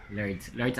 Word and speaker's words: Lourdes: Lords ang pag-pronounce na guys, kaya na daw letter E.